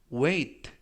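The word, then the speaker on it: weight: 있다 라는 표현이 되겠습니다 이번 표현은 왜 2 oe 왜 라고 발음 하시면 되겠구요 이때 조심 하실 점은 쥐 h 가 이번 단어에서 묵음 이라서 발음이 되지 않습니다 그래서 왜 이끌어 라고 발음 하시면 되겠고요 품사는 명사 뜻은 무게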